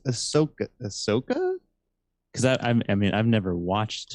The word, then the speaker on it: Ahsoka: It's Ahsoka.